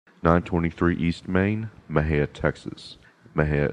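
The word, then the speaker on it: Mexia: East Main Maha Texas Maha is spelled me x i a the ZIP code 7666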